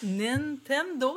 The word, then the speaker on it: Nintendo: Nintendo, c'est comme ça que ça se prononce.